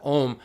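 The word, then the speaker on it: ॐ: and we see teata om and the OM uh we say has three syllables in Sanskrit uh and that's it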